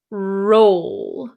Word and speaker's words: roll: so the first one is roll roll so it is an o o sound if you look at my lips roll roll okay the second one